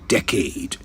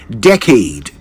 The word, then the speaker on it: decade: job for over a decade. Time flies when you're having fun, eh? Now, beloved, let's take this opportunity to correct our pronunciation of the word decade. D-E-C-A-D-E. Decade, not decade.